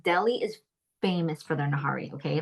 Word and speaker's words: nihari: And that is it's spelled like Nihari, nahari.